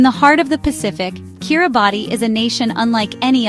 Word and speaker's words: Kiribati: Kiribati, pronounced Kiribati, is a name reclaimed from its colonial past, now worn with pride by its people, who celebrate their unique heritage and traditions.